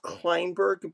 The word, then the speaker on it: Klainberg: It's pronounced Kleinberg, but it it's either way it's fine.